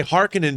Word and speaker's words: Harkonnen: the family harkonnen oh i've always said harkonnen but but apparently they say hearkening but the they say harkonnen in in david lynch's dune right but then pronunciation